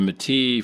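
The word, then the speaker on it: Métis: In 1885, he helped found and lead the provisional government of Saskatchewan on land traditionally inhabited by Mat Matis.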